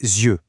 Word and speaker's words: yeux: Et la prononciation change du tout au tout. Les yeux, par exemple, il a les yeux verts. Notez aussi qu'on fait souvent les liaisons, les yeux avec un son Z au milieu.